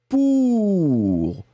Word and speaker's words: pour: Voilà, le premier, c'est U, pur. Et le deuxième que j'ai prononcé là, c'était pour. Pour, d'accord ? Le premier, pur, le deuxième, pour.